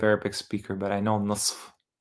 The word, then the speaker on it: نصف: نصف. I mean, I'm not a native Arabic speaker, but I know نصف. In fact, Arabs usually, they don't even pronounce the F half the time in colloquial Arabic.